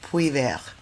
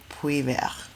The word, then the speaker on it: Puivert: Yes, I'm in transit to a beautiful village in the south of France called Poular. You can look it up on the map. It's spelled Puivert. Poular.